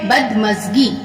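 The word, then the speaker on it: بدمزگی: अब यहाँ पे है बदमज़गी, बे के ऊपर जबर, ये दाल है, मीम से गाफ, ये बदमज़गी।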